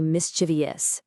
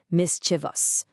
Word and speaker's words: mischievous: So many people say mischievous, adding an extra syllable when it's really just three, mischievous.